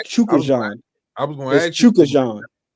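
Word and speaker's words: Chukhadzhian: either, but it's pronounced Chukajan. I was going to ask Chukajan. That's how it's pronounced. Chukajan. Chukajan. Yeah, Chukajan. It don't even look spelled like that, but it's Chukajan.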